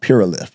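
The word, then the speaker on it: Pueralift: My name of my company is called Pure Lift, and it's spelled Puerlift. P-U-E-R-A-L-I-F-T. P-U-E-R-A-L-I-F-T.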